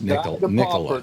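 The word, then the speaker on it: Nikola: It's pronounced Nicola though.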